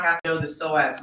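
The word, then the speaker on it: psoas: have to know the soaz minor it's a silent P you do not have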